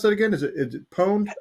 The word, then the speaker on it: pwned: like have i been pawned or pwned how do you pronounce that again is it pwned have i been pwned okay i've been